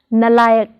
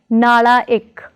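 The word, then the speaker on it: नालायक: Prefix na plus layak is pronounced as nalayak, not as nalaik, but as nalayak.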